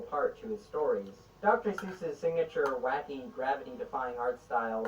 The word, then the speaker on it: Seuss: it that way, and Geisel himself eventually switched to the anglicized version.